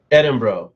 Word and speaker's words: Edinburgh: Edinburgh. Yes, the GH is silent.